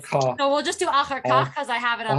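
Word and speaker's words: אחר כך: Veh achar kach poneh Poneh yamina.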